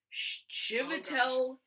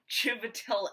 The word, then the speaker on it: Chiwetel: Yeah, Chiwetel Chiwetel. Looks like a V, but it's a W.